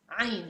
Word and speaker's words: عين: I did it, so try to do it for me, and try to practice with the reducing of the airflow. This is really, seriously, this is the only way you can pronounce the Ain.